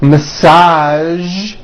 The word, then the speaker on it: massage: Now, there are only a few words that have the voiced zh sound at the end. A few of these words are the color beige, the word massage, and the word prestige.